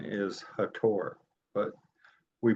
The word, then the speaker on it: Hathor: the Milky Way galaxy by their um God hathor which are Egyptian guide would say the correct pronunciation is hator but we pronounce it as he so with